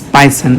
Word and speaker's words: Pisan: I hope it's Pison. I'm sorry, I was pronouncing it wrong. It's Christine dPisan. It's Pison. All right.